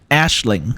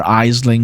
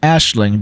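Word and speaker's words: Aisling: with the song I've been told this is pronounced Ashling so uh it's not pronounced aing or eeling or whatever it's pronounced Ashling because that Irish apparently which is also the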